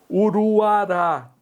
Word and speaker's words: Uruará: acentuada por ser oxítona Uruará Uruará oxítona terminada em a Guajará oxítona terminada